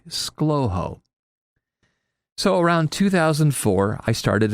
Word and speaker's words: ScLoHo: If you pronounce it with just two syllables, you say slowho.